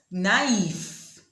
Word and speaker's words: naïve: Now you know why these words are pronounced in separate syllables.